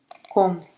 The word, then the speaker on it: compte: Il s'en est rendu compte. Только compte П не читаем, П перед Т не читается.